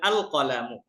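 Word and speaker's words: القلم: যদি আমরা আলিফ লাম যুক্ত করি পড়তে হবে আল কালামু কফ আল কালামু জিদারুন আল জিদারু বাইতুন আল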